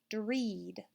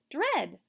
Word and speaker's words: dread: vowel team when we read it with the long e sound dread that's not a word let's try it with a short e sound red dread like when i really